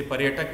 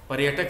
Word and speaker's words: पर्यटक: है, जैसे पर्यटक में य के ऊपर आया है तो य से पहले उसका उच्चारण किया जाएगा। तो शुरुआत करते हैं पर्यटक से ही, तो पहले हमने र का उच्चारण किया, बाद में य का किया।